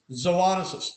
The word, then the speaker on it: zoonosis: look at this zo you know that Long Bar over the O that's zo zo a zoonosis zis zoonosis did you learn